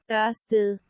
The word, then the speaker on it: Ørsted: damaged natural philosopher and in Danish it's pronounced yes a still so we can't promise